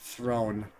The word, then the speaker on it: Throne: it's called Throne it's it's spelled like the throne you sit on but because it's a sport coffee makes it seem like Throne like like you would throw a football a football is thrown sort of thing I